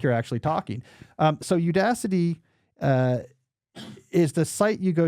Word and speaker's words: Udacity: That is the online course company Udacity. Okay, am I saying that right, Jesse? You are. Udacity.